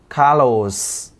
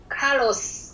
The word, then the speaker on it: Carlos: luôn luôn nhớ nhá cái từ caros chị phải nhớ là cái âm cuối cái âm S ở tên anh ý chị phải phát âm cực kỳ rõ cho em đ không